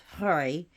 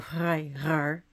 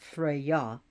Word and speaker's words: Frey: So, Frey, who is known by so many different names, but he's pronounced Frey, or Freyr, not Freya, his Freya, his sister, but Frey.